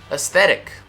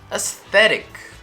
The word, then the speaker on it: aesthetic: while you're doing this stick the tip of your tongue out a little bit between your teeth that's it that's it you got it you got this i know you do aesthetic aesthetic right and it's going